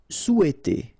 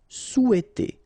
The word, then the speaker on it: souhaiter: Souhaiter. So remember, in French we don't pronounce this H, okay? It doesn't phonetically exist here, so you've got sou, after that you've got e, and then t. Souhaiter. Souhaiter.